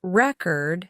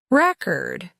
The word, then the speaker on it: record: For example, the word record has different meanings depending on where the stress is placed. Record, with the stress on the first syllable, means a document or a piece of music, while record, with the stress on the second syllable, means the act of recording something.